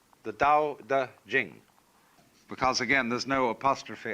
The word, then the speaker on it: Jing: pronounced Ching, but it's Jing, like a J.